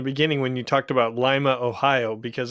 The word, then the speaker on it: Lima: when you talked about Lima, Ohio, because it is spelled like Lima, Peru, but it is pronounced Lima for those that are in Ohio.